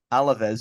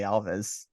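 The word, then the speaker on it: Alavés: Alaves, or as you say, Alves.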